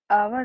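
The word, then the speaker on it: hour: अब ये, इसको हम बोलते हैं आर, आवर लिखते हैं और हम इसको, ठीक है। लेकिन इसमें एच होता है हमारा साइलेंट, एच से नहीं लगाएंगे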